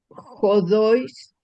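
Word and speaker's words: ὁδοῖς: Entais jodois. Jodo jodo jodois. Jodo jodois. Es que es un diptongo. Es un diptongo. El acento se pinta en la débil y se pronuncia en la fuerte.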